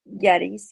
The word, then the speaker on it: Gettys: Gettys. Yeah. Gettys. Like Gettysburg, but Gettys.